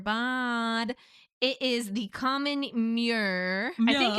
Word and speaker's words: murre: It is the common murre. I think it's called a murre. How do you spell it?